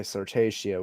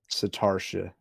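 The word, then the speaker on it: Sartartia: little weak tornado satarshia I was gonna say sirtatio would be how I would pronounce it actually now that's not right satarsha yeah okay what's the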